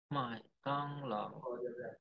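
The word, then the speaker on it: 麦当劳: Ada McDonald's, bacanya apa? Mai Tang Lao.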